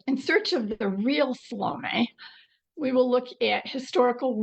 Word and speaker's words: Salome: Salom, by the way, you could pronounce her name Salom, French or Salom. I think I'm more influenced by the Greek of the biblical text and so I say tend to say salom.